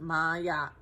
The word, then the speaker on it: Ma'at: Says Ma'at, pronounced Ma'at, is an ancient Egyptian deity associated with truth, harmony, and balance.